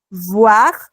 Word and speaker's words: voir: para boire, son solo los labios superior, el labio superior y el labio inferior se tocan para hacer el sonido. Entonces, voir, boire. Es súper importante porque si quiero decir que veo, no puedo pronunciar que bebo, ¿no?